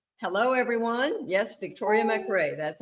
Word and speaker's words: McRay: is that your name hello everyone yes Victoria mcray that's how you say it oh thank you